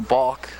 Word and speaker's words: balk: to second with the balk. One of the few words that rhymes with walk, of course, is balk.